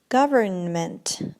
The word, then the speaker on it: government: Now, many people say government. Government. Окей, вот это N посередке, которая самая стоит перед суффиксом ment, да, она у нас глухая, она не читается. Поэтому мы говорим government.